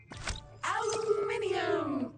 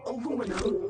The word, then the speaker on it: aluminium: Aluminium or aluminum as Americans pronounce it incorrectly, but that doesn't make it any less useful.